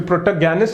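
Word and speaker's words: protagonist: Next देखो प्रोटोगैनिस्ट, प्रोटोगैनिस्ट प्रोटोगैनिस्ट, ठीक है, प्रोटोगैनिस्ट भी, प्रोटोगैनिस्ट इज द करेक्ट प्रोनाउंसिएशन, प्रोटोगैनिस्ट, ठीक है।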